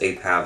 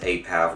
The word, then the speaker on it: Apav: names for themselves because Apav is just an abbreviation, whereas Apav for me, I pronounce it Apav, not APAV.